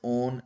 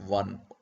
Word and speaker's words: -one: It is pronounced as "-on", not "-one". You have to take care of this.